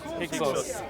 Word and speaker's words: Hyksos: of How do I Africa pronounce this stroke dynasty? Egypt. What's that? Hyksos.